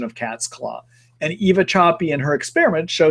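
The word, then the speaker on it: Sapi: 5 years ago by a researcher named Eva Choppy. Last name is spelled S-A-P-I, first name E-V-A.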